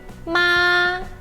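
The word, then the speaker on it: 妈: É bem alto e contínuo.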